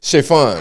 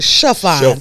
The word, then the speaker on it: Shaphon: You know you pronounced it really good, but it's Shaphon.